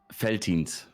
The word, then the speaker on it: Veltins: How do you pronounce that? Veltins.